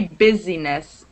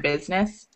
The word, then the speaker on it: business: accent with that one business you never say busyness business that's definitely over pronouncing if you say the eye in business so it's just business I'm sure you guys